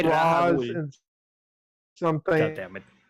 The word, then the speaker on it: Ra's al Ghul: It's Raish al Ghul. It's supposed to be. That's how they say it in the Arkham games. In something. I say Roz Rahul.